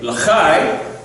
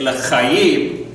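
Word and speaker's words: לחיים: say the morei pri chagafen, we don't say l'chai, to life per se. We say l'chayim, l'chaim, to lives, literally.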